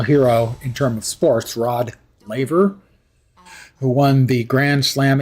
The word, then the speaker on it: Rod Laver: And to pronounce his name correctly in Australian, you would say Rod Laver.